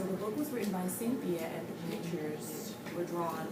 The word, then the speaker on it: Cynthia: Story by Kathy Freeman. Let's put those words together again. Story by C-Y-N, we pronounce that as Kathy. Sin, T-H, and I-A, yeah. So, Cynthia, and then R-Y, R-Y,